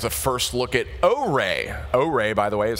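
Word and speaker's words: Oure: O-Ray, by the way, is how that's pronounced, if you were wondering.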